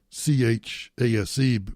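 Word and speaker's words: Chayse: His name is Chase. Now you're thinking Chase, C-H-A-S-E, because Chase has yuppie parents. His name is spelled C-H-A-Y-S-E, Chase.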